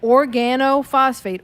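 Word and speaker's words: organophosphate: say I'm looking at Organo phosphate organ is the first two syllables then it's O phosphates or she speaking like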